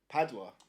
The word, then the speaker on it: Padua: Padua.